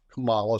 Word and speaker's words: Kamala: I'll begin with the pronunciation of the vice president's name, which is Kamala Harris. Kamala Harris, taught to us and the American people during the DNC by her nieces, grandnieces, that is.